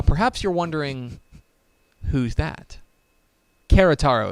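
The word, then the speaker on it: Querétaro: arkansas state university campus querotaro now perhaps you're wondering who's that kerataro is probably how it's pronounced a-s-a-s-u-c-q oh is located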